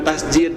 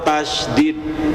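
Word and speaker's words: تشديد: Ya, Bapak yang betul itu bukan tasid tapi syaddah atau tasdid. Kalau tasid pakai j nanti artinya sujud. Kalau tasdid itu artinya tegas.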